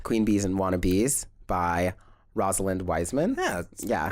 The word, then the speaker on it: Rosalind Wiseman: And it was based on a nonfiction self-help book called Queen Bees and Wannabes by Rosalind Wiseman. Yeah, correct. That's the correct way of pronouncing it.